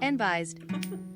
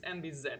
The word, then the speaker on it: enbyzee: Yeah, I'm really sorry for the cursed pronunciation of the text-to-speech. It's enbyzee actually, so...